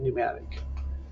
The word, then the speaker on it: pneumatic: is a pneumatic system pneumatic is spelled p-n-e-u just starts with a p pneumatic so the second major